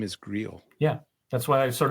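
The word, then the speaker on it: Greil: one and it was an excellent satire of Grill sty well done thank you and thank you Tim and also I found out his name is greel yeah that's why I sort of pronounced it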